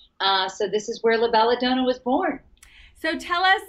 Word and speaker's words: La Bella Donna: name i was saying a lot of people say it la bella donna la bella donut um but i wanted to say it properly because it does have such a beautiful meaning in italian so la bella dona we're so excited yes